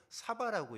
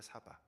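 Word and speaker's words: שָׂבַע: 근데 이 배불리가 히브리어로 사바라고 읽어요. 사바.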